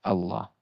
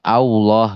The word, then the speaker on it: Allah: Nah, di sini teman-teman hati-hati biasanya terjebak dengan ee latin ya seperti itu. Misalkan latinnya o misalkan ee maka diucapkannya seperti orang yang monyong gitu. Nah, ini keliru ya. Contohnya misalkan ee Allah gitu, Allah gitu ya.